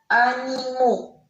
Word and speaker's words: animaux: Regardez, là, je n'ai pas prononcé la lettre X. Animal, animaux. Un hibou, des hiboux. D'accord? Ils prennent la lettre X et la lettre X, on ne la prononce pas.